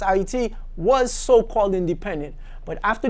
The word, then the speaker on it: Haiti: Up until July 28, 1915, Haiti to you, but it's pronounced Haiti, was so-called independent.